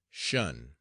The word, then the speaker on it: shun: the command shun squad, abbreviated from attention and pronounced shun.